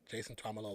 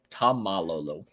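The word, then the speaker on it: Taumalolo: Jason Tuamalolo. That was the one I was trying to pronounce earlier, and I called it Tom Malolo.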